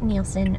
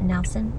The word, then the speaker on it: Nielsen: Also, I wanted to say, if you haven't seen it yet, or if you don't follow her channel, Ingrid Nielsen, I think it's Nielsen, not Nelson.